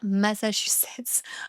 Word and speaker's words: Massachusetts: On prononce bien Massachusetts en français.